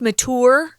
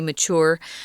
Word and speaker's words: mature: men and women closer together mature is sometimes pronounced mature by people in america i don't pronounce it that way neither is tom we say mature um you don't necessarily become mature just because